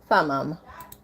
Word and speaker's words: Thummim: See if I can get it to pronounce it for me. Oh, Thummim.